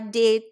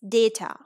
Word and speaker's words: data: later tip number two the letter a at the end of multi-syllabic words is ashwa often right for example data we cannot say de te or date it's data comma sofa banana stigma all